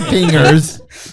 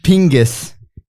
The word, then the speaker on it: pingis: pingers in an Australia no not pingers Pingus it's you have to put the accent in there it I don't